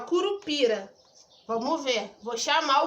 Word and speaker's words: curupira: Curupira! Tá vendo que o pi, eu fiquei um tempão falando? Então, pi é a minha sílaba tônica.